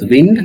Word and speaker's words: wind: So the word wind can pronounce in two ways. One is wind, another one is wind. Wind means airs in motion and wind means twist something.